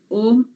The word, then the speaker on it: ओम: ओम की ध्वनि करते समय ओम अ, उ और म से बना है, तो अ का उच्चारण नाभि से, अ और उ मिलके ओ बनता है हृदय से, और म का उच्चारण कंठ से मस्तिष्क तक।